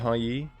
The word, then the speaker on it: Yi: We should get in a fight with Yi, right? We'll get in a fight with or I'm sorry, Yi. That's how you pronounce it. My bad. Should I get in a fight with Yi?